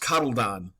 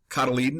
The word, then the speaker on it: cotyledon: the roots the cotyledon I've also heard it pronounced coddledon cotyledon is how I do it contains stored energies